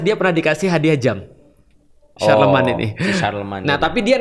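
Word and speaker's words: Charlemagne: Charlemne tulisannya. Oh, Charlemne bacanya apa? Iya, Sharleman. Oh, Sharleman. Sharleman yang dia pernah pernah berkorespondensi dengan Umar bin Abdul Aziz.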